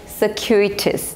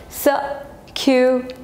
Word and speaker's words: circuitous: Okay, so this is circuitous. The pronunciation is circuitous.